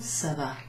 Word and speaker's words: ça va: There's a funny little line under that C, and that's called a cedilla in English. In French it's a cédille. That cedilla under a C makes the C sound like a sort of S, kind of S sound. Without that cedilla, this would be pronounced ka, and that wouldn't make sense.